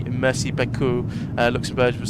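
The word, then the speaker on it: merci: So, Luxembourgish uh uses mercy as thank you, but it's pronounced differently. Emphasis on the first syllable versus French, which means which is the second.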